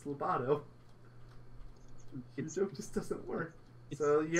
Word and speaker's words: Lobato: the lungfish and Lobato it's labid oh they say his name it's Lobato just doesn't work so